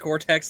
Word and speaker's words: Cortex: It's actually still just pronounced Cortex. The first T is T silent.